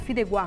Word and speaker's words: Fideuá: Você vai escrever Fideuá com UA no final, mas a pronúncia certa é Fideuá. Coloca como se fosse um G no final.